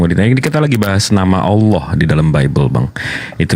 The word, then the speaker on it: Allah: kan iya iya nah kalau double l dalam eh kaidah bahasa tuh kan Bang Allah bukan Allah kalau Allah tuh L sat sama seperti kalau dalam bahasa Inggris itu prepositions karena es2 kita bacanya prepositions sama seperti a l l ah h double l itu kita bacanya ditekan Allah nah jadi kalau abang